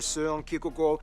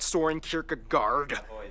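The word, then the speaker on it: Søren Kierkegaard: author Hans Christian Andersen philosopher soon-ae Google or whether that's actually he pronounced his name wow it's not storing Kierkegaard it's or whether it be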